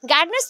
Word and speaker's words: Gardner: आर को थोड़ा सा हम प्रोनाउंस नहीं करेंगे, यहाँ पे गार्डनर बोलेंगे। आर साइलेंट नहीं है, बट ऐसे प्रोनाउंसिएशन होता है, फॉरेन राइटर हैं या एजुकेशनिस्ट है तो इसलिए गार्डनर बोला जाता है। आर थोड़ा सा हम यहाँ पे साइलेंट रख सकते हैं, ठीक है।